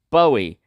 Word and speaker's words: Bowie: It's Bowie, bow, like the bow and arrow.